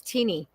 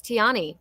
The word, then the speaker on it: Tani: I always thought her name was Tini. And I thought, how funny, Tiny. Her name is Tani. And I'm like, oh my god, I love that. I wish I'd known it pronounced it that way before.